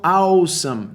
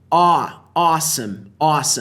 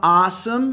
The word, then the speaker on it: awesome: Cuidado com a pronúncia, né? As pessoas falam awesome. Não. Awesome. Você pode falar awesome mais aberto ou mais pro awesome. Os dois jeitos estão corretos.